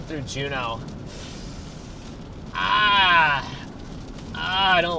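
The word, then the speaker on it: Juneau: Pronounced Juno. Juno. Juno like uh Yes, from Sabrina. Yes, like that.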